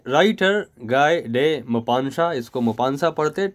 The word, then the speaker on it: Maupassant: इसको Maupassant पढ़ते, T is silent, N-T is silent, Maupassant is there, right.